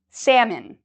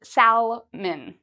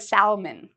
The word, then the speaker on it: salmon: okay all right um this word a lot of people mispronounce it's a type of fish that people like to eat salmon a lot of students want to say Salon I like salmon don't worry about the L it's silent salmon uh our next